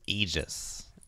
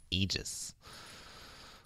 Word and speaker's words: Aegis: that would have been funny I just it's pronounced Aegis Aegis yes sir this really pronounced Aegis that AE is supposed to be like drawn